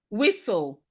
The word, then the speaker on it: whistle: We have whistle. Whistle. Whistle. The T in whistle is silent.